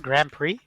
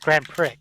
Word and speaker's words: Grand Prix: that knowledge on that spell in p r i x how that turns into pre but uh now is